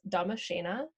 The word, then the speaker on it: Damascena: It's Damashena, and that is spelled DDAMASCENAA.